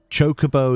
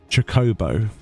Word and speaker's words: Chocobo: So, Chocobo would be traditionally the English like the British way of of pronouncing it, right? Chocobo is the American way of of of uh pronouncing it supposedly in all of the voice stuff.